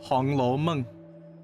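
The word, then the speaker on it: Hong Lou Meng: Oh, Hong Lo Meng. That's what it's pronounced. Yep. Hong Lo Meng.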